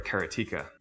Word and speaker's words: Karateka: A lot of people say Karateka, or Karateka. In Japanese, there's no stress on any syllable, so it would be Karateka, something like that.